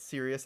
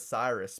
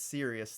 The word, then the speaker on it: Sirius: I think that's how you say it, Sirius. I always called it Cyrus before, but I guess it's Sirius, the star.